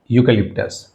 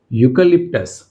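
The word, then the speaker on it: eucalyptus: सो यहां पे अगर वोवेल लेटर जो है वोवेल से स्टार्ट हो रहा है ए से। मगर प्रोनाउंसिएशन क्या आ रहा है यहां पे? यूकलिप्टस वाई राइट कंसोनेंट का साउंड।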